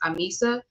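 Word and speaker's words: ahimsa: meet it will be about nonviolence which is pronounced Amisa a i Ms a um and thank you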